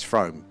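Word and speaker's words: Frome: It's Fro.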